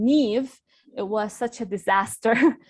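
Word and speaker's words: Niamh: pronounce their names so Neve is actually um spelled n-i-a-m-h which is nowhere near Neve and so if you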